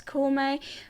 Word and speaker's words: Koumei: a bit weird because it is written as Kongming, so why are we pronouncing as Koumei? I think let's just stick to the Japanese original pronunciation and let's just call our, sort of main character Koumei.